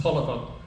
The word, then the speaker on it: Taliaferro: It looks as though it's spelled Taliaferro, but my understanding it's pronounced Tolliver.